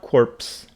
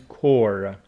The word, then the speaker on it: corps: is p score firstly it is not corpse it is core see if we go